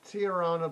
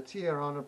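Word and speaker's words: Tijuana: group group were the tirana brass they've got a j in that name which don't get used it's spelt i j u a n a whose backing group were the tiarana brass and it's herb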